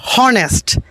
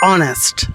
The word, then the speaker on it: honest: It's not honest, it's honest.